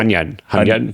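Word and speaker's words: Hunyuan: Gosh, I don't know why my American brain keeps not messing up Hunyan. No. Hunyan. Yes. Hunyan. I need to see you order at a Chinese restaurant. Hunyan's GameCraft, which we covered like a month or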